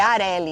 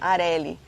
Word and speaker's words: Areli: PS, meu nome se pronuncia igual Carelli. É Areli, então. Areli.